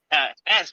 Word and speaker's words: Esse: With me today is our special guest, S, right? That's how you pronounce it?